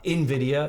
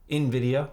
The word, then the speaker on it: Nvidia: n is for nvidia gotta say it right for all those people out there they don't like it when i say uh nvidia it's uh nvidia or i guess that kind of sounds i guess i say